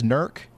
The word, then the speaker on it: Newark: Wait, so is it is it Newark, Ohio? That that's the one that's Nerk.